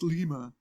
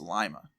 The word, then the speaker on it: Lima: in Ohio it is Lima so don't don't leave me leaving messages it's pronounced Lima which is true if you're talking about Peru but we're not we're talking about Ohio so it's Lima there's an exchange club